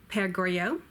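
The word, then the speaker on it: Le Père Goriot: that series is Pascal bear go okay Oh père Goriot and another is a genie Gandhi II J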